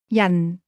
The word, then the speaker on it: 人: This word is pronounced with a falling tone. Say person. Yan.